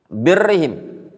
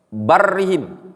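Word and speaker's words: بَرِّهِم: dan Umarnya kaum mukminin birrihim atau Afan barrihim bacanya bar Afan Bukan bir ya bar bar itu yang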